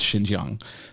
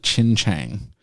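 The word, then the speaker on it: Xinjiang: basic statistics wrong and he could not pronounce Shin Ji Young the way he pronounced it was he called it Qin Chang so I mean I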